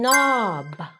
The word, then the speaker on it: knob: When we put them together, K becomes silent like in knob.